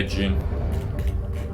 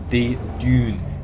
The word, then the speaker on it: Dune: Yeah, June. You know the original one. Well, they were doing June. Like, what's Chiller talking about? June. Dune.